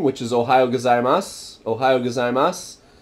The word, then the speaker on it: gozaimasu: Ohayo gozaimasu. You'll also just hear mas.